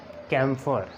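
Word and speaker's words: camphor: अब इसको कैम्फर का की साउंड क्यों पैदा की है, क्योंकि सी के बाद ई आई वाई इनमें से नहीं था, सी के बाद ए है तो हमने इसको कैम्फर पढ़ा।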